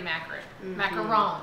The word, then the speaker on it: macaron: So the macarons would be like the American way to pronounce it, and macaron is the French way.